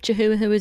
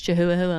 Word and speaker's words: Chihuahua: It's Chihuahua. I'm pretty sure that's how you pronounce that. It's got a hua hua at the end.